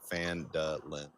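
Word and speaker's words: Phandalin: The pronunciation they actually say is like Fandalen.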